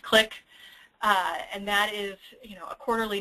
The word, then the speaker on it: CLIC: We have Join the CLIC, and CLIC stands for the Center for Linguistic and Cultural Competency in Healthcare, which is pronounced CLIC.